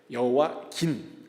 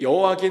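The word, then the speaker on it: 여호야긴: 이게 발음이 되게 어려워요. 여와 김과 여호와 긴입니다. 미음하고 니은 차이예요. 근데 2차 포로는 여호와 긴 왕때 발생합니다.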